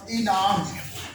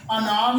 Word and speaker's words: انعام: لفظ ہے ہمارے پاس انعام۔ انعام نہیں ہوتا ہے، انعام ہوتا ہے۔ اس کے بعد جو